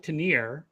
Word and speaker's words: Tanier: 2022 and i am joined today by tenier who if you're going to call yourself that